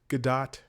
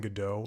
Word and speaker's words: Gadot: I think she says Gadot, and everybody else has been saying Godot, like waiting for Godot.